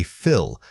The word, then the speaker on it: fill: When you say fill, make sure your tongue stays low in your mouth and doesn't lift toward the roof of your throat. This helps maintain that relaxed short vowel quality.